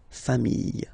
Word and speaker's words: familles: the plural form, les familles, okay? Remember, chien, singular form, chien, same pronunciation, but you put this S, okay? Final S, not pronounced. Famille, singular form, famille, plural form, same pronunciation, S, not pronounced.